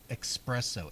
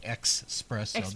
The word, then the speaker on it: espresso: There is no X to be found anywhere. It's like espresso, expresso.